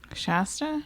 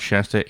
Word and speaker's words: Shasta: Shasta? Yeah. Why? How do you say it? Shasta. Sha, not sha.